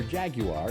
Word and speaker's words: Jaguar: Jaguar or Jaguar, if you pronounce it as those in the UK, might.